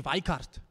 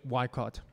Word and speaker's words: Weikart: Wikipedia page so uh so Professor am I pronouncing it correctly why cart is it is it Dutch German so it's actually weikart yeah yeah okay in South Africa we'll we'll do it why caught and he is Professor of history at California